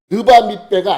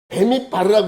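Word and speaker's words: בְּמִדְבַּר: 르바밋베가 아니고 베밋바르라고 읽어요.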